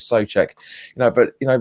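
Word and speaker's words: Souček: said you know we'd sucuk so check sorry I keep saying it so that's how you pronounce it is so check you know but you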